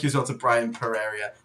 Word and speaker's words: Pereira: And thank you as well to Brian Pereira. Pereira. I'm not good at pronunciation.